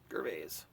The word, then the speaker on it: Gervais: Ricky Gervais. That's how you say his name. Gervais.